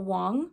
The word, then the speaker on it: Wang: fantasy oh I just realized I said her name wrong sorry is ml Wong so basically this is a Japanese inspired fantasy